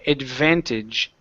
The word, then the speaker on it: advantage: Okay, so instead of advantage, give me a good V there. Advantage.